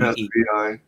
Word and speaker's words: Svi: Imagine if it's spelled S-V-E-E. S-V-I. All right, like S-V-E-E. S-V-E-E, and that is Svi.